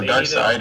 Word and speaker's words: Darkseid: It's pronounced Darkseid.